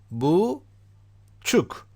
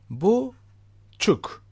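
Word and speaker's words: buçuk: this can help you boo Chuck don't expand the word actual don't extend a pronunciation keep it short boo Chuck boo Chuck Chuck okay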